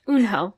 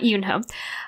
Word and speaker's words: Eunho: But it's Eunho. Eunho. Okay. So... Okay. There's a correction. Sorry we fucked up. Yeah, but Eunho, not Yoonho.